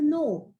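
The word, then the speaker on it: know: Like in no, K-N-O-W, no, new, night, numb.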